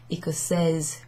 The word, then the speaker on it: écossaise: of the feminine version, écossaise, galloise, with a z sound at the end.